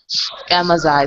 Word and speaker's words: Amaziah: Amaziah? No, George Clinton. What in the world? Talking to you. I was the first one talking to you. Wait, how you say your name? Amaziah.